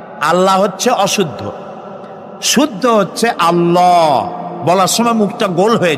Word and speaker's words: আল্লাহ: আল্লাহ নয় কিন্তু আল্লাহ হচ্ছে অশুদ্ধ শুদ্ধ হচ্ছে আল্লাহ বলার সময় মুখটা গোল হয়ে যাবে বলেন তো সবাই উচ্চারণ করেন আল্লাহ আবার বলেন আল্লাহ আবার বলেন